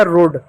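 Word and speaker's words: road: आर का र लिखेंगे ओ ए को ओ की मात्रा लिखेंगे और डी का ड लिखेंगे हो गया रोड ठीक उसी प्रकार दोस्तों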